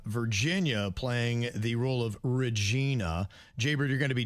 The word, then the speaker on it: Regina: We'll have Virginia playing the role of Regina. Jbird, you're going to be Jasmine, and Denny's, you can be Andy. I pronounce it Regina. Regina, okay. Regina. Kind of like your name, Virginia.